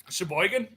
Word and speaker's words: Sheboygan: I want to know about hey T say Sheboygan Sheboygan there you go there we go pronunciation a half an hour from Sheboygan I